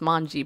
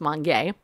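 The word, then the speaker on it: Mongee: eat it all Mon Mon Mon gay its mangy but it's pronounced Mon gay banana derives from a frigid growing environment typically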